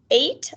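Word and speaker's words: eight: like in the word 8, like the number 8, or neigh, like the sound that a horse makes, or weigh, like when you weigh something to see how heavy it is.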